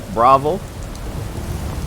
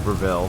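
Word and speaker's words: Bravil: We are here in beautiful Bravel. I know that's not how you say it, it's Breville, but I said Bravel for the longest time, and I'm wrong, and I'm gonna stick to being wrong.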